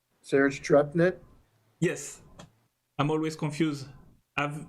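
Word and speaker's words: Tcherepnin: Serge Trepnet? Yes. I'm always confused. I've never heard his last name. I read it, but I don't know how to say it. So. Trepnet, yes.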